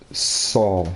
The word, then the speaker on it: Sol: Yeah, that's exactly how you spell my middle name, SOL. And it's pronounced Saul? It's pronounced Saul, yep.